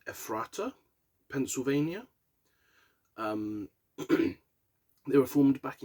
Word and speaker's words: Ephrata: Texas in July is an American metalcore group from, now, I think this is pronounced Ephrata, Pennsylvania.